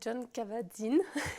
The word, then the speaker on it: Jon Kabat-Zinn: Et en fait, la méditation, il y a vraiment un Américain qui l'a démocratisée, qui s'appelle Jon Kabat-Zinn. Bravo, bonne Voilà.